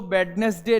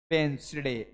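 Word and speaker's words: Wednesday: दिया ऐसे यह देखो अब इसको वेडनेसडे नहीं पढ़ेंगे देखो डी और एन तो इसको डी को हम बिल्कुल खा जाएंगे साइलेंट कर देंगे डी एन एक साथ दिया है अब डी साइलेंट मारेंगे हम तो कैसे हम पढ़ेंगे इसको बेंस डे क्या पढ़ेंगे बेंस डे यह इंग्लिश का पढ़ने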